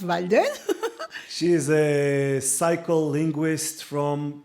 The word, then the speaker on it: Walden: Yeah, spelled with W though, W-A, but pronounced Walden.